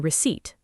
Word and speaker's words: receipt: We also covered common mistakes like adding an L sound in walk or a P sound in receipt.